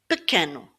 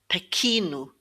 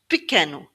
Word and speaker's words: pequeno: In some words, the E is pronounced like a very short E. So, pequeno. Pequeno. Many people get this word mixed up and they think it's pequino, but it's not pequino.